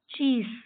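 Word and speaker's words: cheese: चीस, आखिरी की ई पढ़ेंगे नहीं, चीस, चीज।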